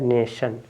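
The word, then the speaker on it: nation: है ए है आपका एन ए और य आपका श है य आपका श है नेशन क्या हो गया नेशन ठीक है अब ी तरह से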